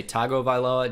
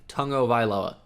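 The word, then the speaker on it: Tua Tagovailoa: of AI Lola now I know what you want to say Tago vai lá just cuz the way it looks he pronounces his own name Tongo vai lá lá so I'm gonna say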